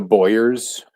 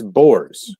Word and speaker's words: Boer: oh, going after the Boyers. It's Boers. Boers. Boer. It's pronounced Boer, like Boer, but a little fucked up, not Boyer, like the NASCAR driver or the former Patriots quarterback.